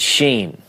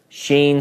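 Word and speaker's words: שין: It's sheen. Sometimes pronounced sheen, sometimes pronounced seen.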